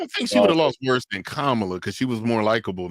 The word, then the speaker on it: Kamala: Was it Is it Kamla or or Kamala? Kamla. It's Kamla.